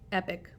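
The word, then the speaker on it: epoch: Then we have this word here, and I know it's spelled a little different than the word epic, like saying, oh, that's epic, or mega, but it's pronounced in basically the same way. So you can say epic for this one.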